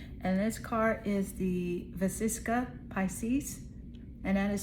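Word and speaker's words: vesica piscis: And this card is the Vasisa Pisces and that is spelled V E S I C A P I S C I S.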